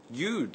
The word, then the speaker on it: you'd: can be shortened to you'd like my friend but be sure to pronounce the d or it will sound like you like my friend in spoken english and